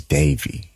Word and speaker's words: Davi: We're talking to Miss Davi Schmidt, and man, it's Davi, D-A-V-I, because I almost said it wrong.